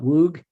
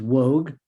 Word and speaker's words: Woog: Little known fact, my last name is not Woog, it is Woog, but it's Dutch, but I mispronounce my own name and everybody else says Woog, so I guess I've changed the pronunciation of my last name.